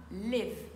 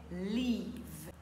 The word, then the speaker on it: leave: sur le son i rappelez-vous si vous faites un i court ça donnera Liv qui veut dire habiter par contre pour ce verbe là on a impérativement besoin d'un son i long vous direz leave leave